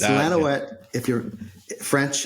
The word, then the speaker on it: Lanouette: It's Lanoette. If you're French, it's Lanoette. Lanuette is an American version.